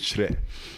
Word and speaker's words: Kyere: Yeah, but the right way is Chre. And that's the Ghanaian language.